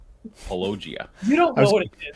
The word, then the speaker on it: Paulogia: always mispronounce my name it's apparently palogia i was going to